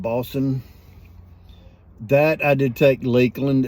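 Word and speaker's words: Bosun: some balsam boston plug b-o-s-u-n bowsum balsam i believe uh 13 pipes he caught he pronounced it boston that i did take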